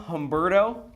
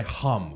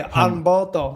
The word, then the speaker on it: Homberto: on, You don't have what's to your- pronounce the H. Yeah. You don't have to say hum.